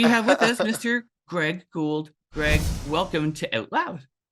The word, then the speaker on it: Gould: good oh good yes well gold is is the way I I know some people may pronounce a gold sometimes I get surprised I'm like I don't understand because you know what a ghoul is without the D you just add the D um but yeah I